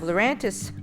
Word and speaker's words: Lurantis: fantis we already have lurantis which rhymes with fantis so why don't we